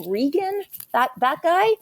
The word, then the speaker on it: Reagan: reagan is that how you say his name regan that that guy ray gunn we call him your holiness down here thank